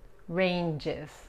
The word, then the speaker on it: ranges: Ranges. En plural, la S aquí se pronuncia como la Z en inglés.